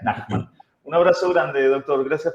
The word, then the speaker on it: Nachman: Doctor Nachman, ahí estábamos compartiendo su Instagram para cualquier cosa, cualquier consulta, fabio.nachman, pero se pronuncia Nachman.